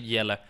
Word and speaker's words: Jelly: It's you pronounce it Yella, but Jelly's just like gave him that nickname.